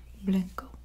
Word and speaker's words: blanco: Blanco, blanco, blanco, blanco.